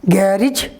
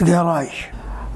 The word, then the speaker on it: garage: go for repairing look people pronounce this word garage which is not correct the correct pronunciation of this word is garage garage what is this garage ja sound is there asia palette to alveolar look at the examples